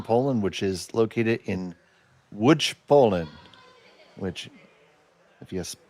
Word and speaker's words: Łódź: ice club in Poland, which is located in Łódź, Poland. Which if you just look at the spelling, it says l o d z. It is pronounced Łódź.